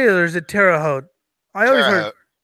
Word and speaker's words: Terre Haute: Terre Haute. Is that how you say it, or is it Terre Haute?